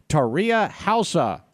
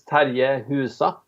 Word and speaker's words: Terje Husa: So it should be, in Norwegian, it's Terje Husa, but in English, you know better than me.